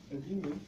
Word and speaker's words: daemon: Okay, so these are all my terminals, and this was a daemon, a diamond.